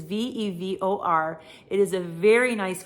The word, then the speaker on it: Vevor: I actually have a vacuum sealer that was sent to me by a company called Vever or Vevor. I'm not sure how to say it. It is Vevor.